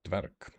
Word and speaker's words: Dverg: So I might just go Dverg. It's the V a half vowel. It's pronounced as V. So it's got a bit of voice in it, but not a lot.